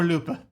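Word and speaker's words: loupe: I think the consensus is loop. Okay. I seem to be saying so loop or loopa.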